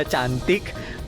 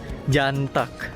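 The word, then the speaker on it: Cantık: kayak Bahasa Indonesia gitu nah cuma dibacanya ini bukan cantik guys C kalau dalam bahasa Indonesia itu kan dibacanya C Nah kalau dalam abjad Turki itu dibacanya J dan juga I yang ada dalam nama makanan ini itu enggak ada titiknya nah dalam abjad Turki kalau misalnya enggak ada titiknya itu dibacanya eh guys jadi makanan ini bukan dibaca cantik tapi dibacanya ganteng nah kali ini aku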